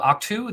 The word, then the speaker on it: Ahch-To: So I have, this is called Octu.